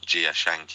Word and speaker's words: Jia Zhangke: the director that you mentioned at the end gia Schanke is Schanke that's how I was told to pronounce it I saw a film of his